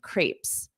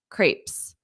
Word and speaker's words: crepes: can find them just for dessert notice this pronunciation Crepes Crepes Crepes and then French toast do you know this